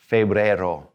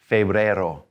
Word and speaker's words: febrero: them but here we go enero enero february febrero febrero in march is marso a lot of times